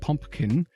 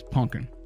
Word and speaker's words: pumpkin: Because for whatever reason, I learned to say it as pumpkin. I don't pronounce the other P. It is not pumpkin, it is pumpkin.